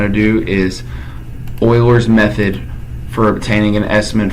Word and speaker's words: Euler: to go to menu we're gonna go to Euler which is spelled Li you le are so it's not